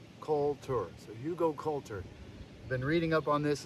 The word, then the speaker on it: Hugelkultur: I finally learned the pronunciation. Hugelkultur. So Hugelkultur.